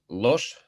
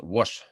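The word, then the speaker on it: Łoś: by this polish mathematician his last name is uh pronounced not lost but wash it is polish pronunciation this polish letter l let us recall again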